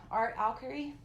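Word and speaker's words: Art Alchemy: really love these things these are Prima marketing art al Curry and that's how you say it and this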